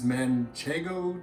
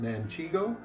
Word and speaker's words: Manchego: So the last ingredient we're going to put in here is Manchego cheese. I like to pronounce it Manchego, so that when I'm grating it, I can sing, "Whoa, Manchego Bay."